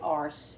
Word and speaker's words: arse: from Cooking with Neighbors, we always say arse, A-R-S-E, like as ass, but in Canadian it's arse, I guess. I don't know. That's how they say it.